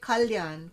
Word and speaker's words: Kalyan: So we say Kalyan.